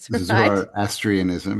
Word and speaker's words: Zoroastrianism: you've got the Um, Zoroastrianism. Zoroastrianism. I don't know how I'm pronouncing that. Zoroastrianism. Yeah.